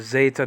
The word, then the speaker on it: Zeta: up guys okay so as Zeta now that is called Zita and this is the deal